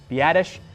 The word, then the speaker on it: Biadasz: N'Keal Harry, Tyler, I'm just going to call him Badass from now on, even though it's actually Biadasz.